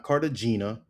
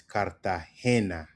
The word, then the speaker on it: Cartagena: Colia Cali Cali Colia I'm going going back back to Cali Kali it's pronounced Kali Kali Kali. Next word or next city is Cartahena. It's not Cartagena or not Cartagena. is Kartahena.